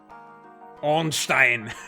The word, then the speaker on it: Ornstein: do you guys know about that foreign on Stein yeah obviously that that's the one true the one true pronunciation um yeah uh attack speed sounds really